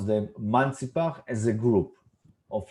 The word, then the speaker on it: Mantzipach: So this is the way we spell them or pronounce them, Mantzipach, as a group of letters.